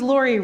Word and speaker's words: Lóre: What does Lóre rhyme with? Story, yes.